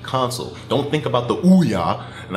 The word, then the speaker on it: Ouya: Don't think about the Ouya, and I know it's pronounced Oya, or I think, but I call it the Ouya.